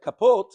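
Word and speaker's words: כפות: It's read kapot, but it's spelled without a vav, as if it says kapat, 1.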